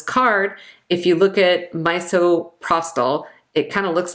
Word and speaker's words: misoprostol: if you look at misoprostol, it kind of looks like misoprostol. So when you're pregnant, miso soup is okay, misoprostol is not. And again, it's pronounced misoprostol, but it looks like that miso.